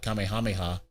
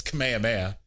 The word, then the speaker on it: Kamehameha: I do appreciate the person who came on uh Instagram to let me know it's not uh Kamehameha, it's Kamehameha.